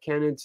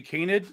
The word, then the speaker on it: canid: getting at don't uh cannons uh have distinctive teeth okay you mispronounce it it's actually canid kenny uh and the answer